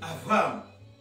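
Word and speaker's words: Avraham: Lorsqu'il y a un point, ça se prononce B. Quand il n'y a pas de point, ça se prononce V. Comme Abraham, où on dit Avram.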